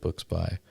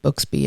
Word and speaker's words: Books By: have where I've just been pronouncing it Booksby in my head the whole time. I know it's not. I know it's it's actually a very clear and clever title, Books By, but unfortunately my brain is just Booksby.